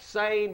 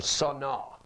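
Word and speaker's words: שָׂנֵא: It looks like sane, but it's pronounced sane or sana.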